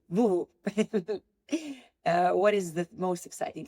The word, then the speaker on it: Voovo: How do you pronounce it? Voovo. Voovo.